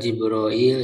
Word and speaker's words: Jibril: J kata Ibnu Katsir ya, pembacaan lafaz Jibril itu ya ada 10 ya, ada 10 cara membacanya. Bentar. tadi Jibril ya. Jadi ada Jibril, ada Hilang tadi ada kalau enggak salah ada apa Jibrail ya? Ada. Jadi ada 10 ee pembacaan ya untuk kata Jibril itu.